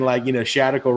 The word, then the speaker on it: Shadical: And then Shadical rhymes with radical, and radical just means not in the center.